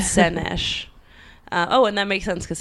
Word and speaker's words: Szenes: It's Szenes. Ooh. Szenes. I'll pause it real quick while you look it up. Hi, we're back. I figured it out. It's Szenes.